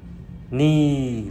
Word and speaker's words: knee: Know là biết, knee là đầu gối, knock là gõ. Thì no, knee, knock ở đây chúng ta hãy quên chữ K đằng trước nó đi nha các bạn.